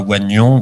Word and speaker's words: oignon: en disant bon, allez, mettons oignon, ça se prononce pas oignon, donc on va écrire O-G-N-O-N, ce que l'Académie a proposé.